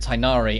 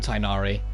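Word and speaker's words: Tighnari: told to do we're told to pronounce it tinari and make it consistent across all the roles so it's uniformed so it's tinari but people were really going at them it's like oh don't they know anything about culture it's like no they're doing what they're told and getting paid for it get over yourselves you know if they say tainari it's tinari that's the bottom line so i will be calling him tainari i already informed paimon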